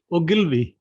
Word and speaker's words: Ogilvy: And please correct me if I'm, mispronouncing it. Is it Ogilvy or it's Ogilvy? What is it? It's Ogilvy.